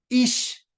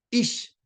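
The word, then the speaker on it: איש: Y se dice ish, así se dice hombre, ish, ¿sí? Mire, es el mismo, casi la misma, ¿sí? El otro solamente se dice esh, el otro se dice ish.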